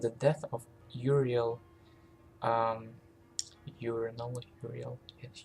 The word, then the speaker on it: Uriel: With the death of Uriel, um, Uriel. Yeah, I think I heard someone say urinal or pronounce it as urinal.